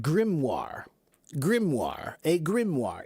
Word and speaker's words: grimoire: Do you know this word g r i m o i r e? It's pronounced grimmoire.